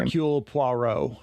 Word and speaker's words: Hercule Poirot: it, the Herlock Poirot or whatever, however you pronounce his name. Hercule Poirot.